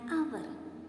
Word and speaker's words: hour: ant, an orange, an hour. Here the word hour starts with H letter. But H is silent here. So there comes a vowel sound. An hour.